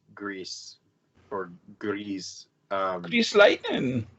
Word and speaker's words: Gris: Grissom yeah it looks like disgust but it's pronounced grease or goodies you slate and it was made